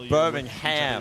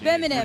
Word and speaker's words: Birmingham: And it's same with when you guys say Birmingham. Birmingham. Really pronounce the H.